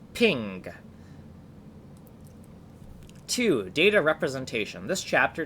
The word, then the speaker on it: PNG: mark section 12.44 pronunciation png is pronounced ping two data representation this